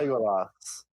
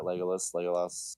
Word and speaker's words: Legolas: Legolas.